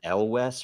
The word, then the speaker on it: Elwes: Is it Elwes or Elvis or Elvis? Elvis.